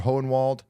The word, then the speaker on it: Hohenwald: Did I say Hole in the Wall, Tennessee? No. The name is Hohenwald, I think. Something like that. That's how it's spelled. Not Hole in the Wall. Hohenwald.